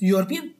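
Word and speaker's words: European: बताएं कि यहां पे ये वाई के साउंड कैसे दे रहा है जब हम इसको प्रोनाउंस करें तो यूरोपियन को करें प्रोनाउंस यूरोपियन यो यू क्यों दे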